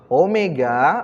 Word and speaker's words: omega: Omega, nah ini bacanya omega nak, bukan W ya.